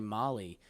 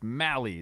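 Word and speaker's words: Mahle: That might rhymes with rally. That's what his baseball reference page says. I'm going to go check that again right now. Might be a really nice signing for them. Uh but I'm sorry. Amay's got rhymes with rally. It's Mali.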